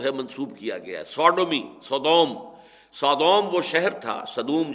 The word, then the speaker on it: Sodom: منسوب کیا گیا ہے، سوڈومی، سودوم وہ شہر تھا، صدوم جس کو ہم کہتے ہیں، سوڈوم SODOM، یہ بائبل میں اس کا تلفظ ہے، تو اس سے یہ